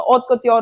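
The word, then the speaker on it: haute couture: Okay, next ऑथ कत्योर, यही pronunciation इसका। ऑथ कत्योर होता है एक बहुत ज्यादा लीडिंग फैशन डिजाइनिंग कंपनी।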